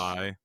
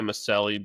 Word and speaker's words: Maccelli: Spell it. Yeah. No, that's how it's supposed. Maccelli. Sure, I'm sure he goes by Maselli because it's North Michelli.